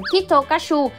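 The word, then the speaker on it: キットカット: triển tại Nhật vì theo cách phát âm của người dân, Kit Kat sẽ được đọc thành Kitokashu, đồng âm với từ chắc chắn thành công.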